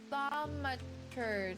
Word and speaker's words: thaumaturge: Thaumaturge. Let's listen to this. I want to hear it pronounced.